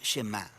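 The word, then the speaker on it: שמע: La primera palabra del Shema es oye o escucha, y en hebreo se pronuncia Shema.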